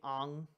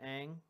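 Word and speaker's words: Aang: all you fine beautiful voluptuous people can't be Ang because they pronounce it Ang in the cartoon okay thing about sooka from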